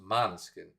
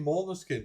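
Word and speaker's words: Måneskin: themselves in an interview in Italian it's pronounced manskin and that's what they want people to say but everybody keeps saying more than skin because now Mary no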